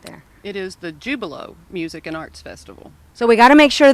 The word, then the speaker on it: Jubilo: other things but it's jubilo just just like it looks well I want to